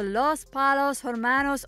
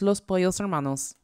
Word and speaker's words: Los Pollos Hermanos: you story behind gus's spice curls realization the los palos hormanos owner and new mexico's biggest drug lord and